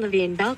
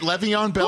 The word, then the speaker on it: Le'Veon Bell: Is it Le'Veon Bell? Hold on. What was it? Not even Levine Bell can help the rich. That's close enough. Levine Bell, I think, might be the CFO of the New York Jets. I think robots are racist because they can't pronounce that name.